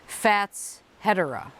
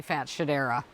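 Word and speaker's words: Fatshedera: in the garden last year because apparently he's pronouncing it the right way which is fats hetera and I say that's probably right but you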